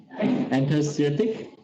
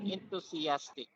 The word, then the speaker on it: enthusiastic: Interstatic. Okay. Enthusiastic. Interstatic. I ask enthusiastic. Enthusiastic. Okay. So that is much better.